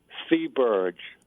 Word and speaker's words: Theberge: It's French Canadian. It's Deberge. C. Oh, C as in C. T as in C, like THEE phonetically, I guess you. So say it again. Theberge.